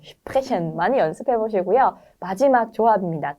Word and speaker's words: sprechen: 네, 슈프레션 많이 연습해 보시고요.